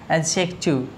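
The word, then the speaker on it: adjective: इसके अंदर ये जो डी है साथियों क्या है, साइलेंट है, एडजेक्टिव। ए और जे के बीच का डी हमेशा क्या होता है, साइलेंट होता है।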